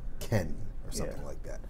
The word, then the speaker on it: Kean: just keen yeah well it looks like keen but it's like Ken boys can was that Cagliari crowd racially taunted ventus's 19 year old forward boys Ken yeah when he scored